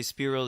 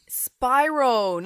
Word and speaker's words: Spyro: Hey, when you had PlayStation 1, did you ever play Spyro the Dragon? Spyro, not Spyro.